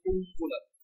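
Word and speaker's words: قنبلة: লাম তা কুনবুলাতুন কুনবুলাতুন আর এফিন পুরোটা উচ্চারণ হয় কুনবুলাতুন মিমের উচ্চারণ ঠিক আছে আজকে কিন্তু তাজবিদ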